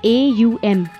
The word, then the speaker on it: Om: Om is not pronounced as OM but as AUM, Aum.